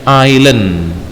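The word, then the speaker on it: island: katanya bikin goto ada Ainun bacanya Ilen King artinya pulau Ayo kita nggak bisa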